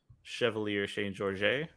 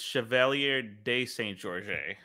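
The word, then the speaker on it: Chevalier de Saint-Georges: story so I've heard the story of um Chevalier Shane Georges who is pretty larger than life kind of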